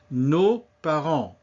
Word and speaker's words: nos parents: Nos parents, the S, as usual, is silent.